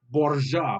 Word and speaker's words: Borgia: But it says but and quotations Borgia, which is the Italian pronunciation of Alfonso's last name.